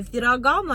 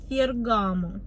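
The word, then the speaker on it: Ferragamo: туфли дорогущие туфли фергаму запомните ферагамо Это неправильно мы з вами произносим фергамо Хай бохмили хоть бери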